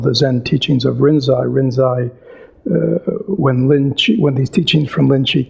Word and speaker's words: Rinzai: Rinzai, when these teachings from Linji came to Japan, the Japanese have their own way of pronouncing characters, the Chinese characters. So they, in their way of pronouncing, Linji became Rinzai, but it's the same person.